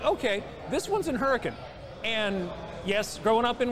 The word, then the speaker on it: Hurricane: yeah and I'm like okay this one's in hurricane and yes growing up in West Virginia growing